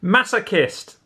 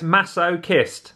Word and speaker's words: masochist: Masochist. Yes. That's how you pronounce it, okay? It's masochist. Masochist. Okay? Brilliant. Don't look at the spelling, just think masochist.